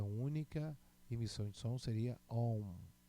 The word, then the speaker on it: Om: Pronúncia única, emissão de som seria Om.